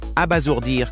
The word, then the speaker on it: abasourdir: Prononce abasourdir correctement avec un. Z entre. Les voyelles répètent. Abat. Zour, dire. Abasour, dire, la prononciation abasourdir est une erreur courante à éviter.